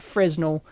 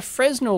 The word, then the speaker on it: Fresnel: go it explains that a Fresno lens they pronounce it frenel I don't know I always call it Fresno is a Plano convex